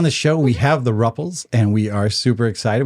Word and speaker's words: Rupple: And your name rhymes with Thruple, which is crazy and super fun.